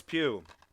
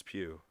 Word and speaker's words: Pugh: really really like florence pugh is really i think that's how you say last name it's spelled p-u-g-h uh sounds right i